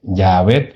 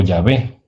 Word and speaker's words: Yahvé: También se comprueban algunos textos griegos de la época patrística que su pronunciación parecía ser Yaabet o Yahvé.